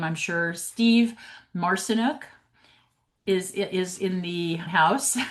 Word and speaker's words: Marcinuk: I'm sure Steve Marcenuk is is in the house. Hello Steve. Nice to see you. It's Mar. You got it. It's Marcenic. It rhymes with arsenic which association.